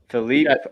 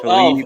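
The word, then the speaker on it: Filip: Philippe. I got. Okay. How do you say that, Coach? Philippe? No, that's Philip, man. That's Philip with an F.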